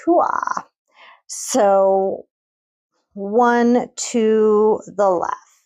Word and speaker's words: Huath: and it's pronounced huah.